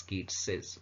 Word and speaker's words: Keats's: In both cases it is pronounced as Keats's.